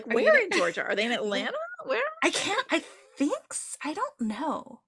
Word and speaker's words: Atlanta: like say say ATL pronounce the second T in Atlanta um drink Pepsi we